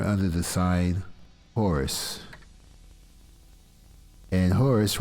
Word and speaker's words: Horus: And Horus rhymes with Taurus.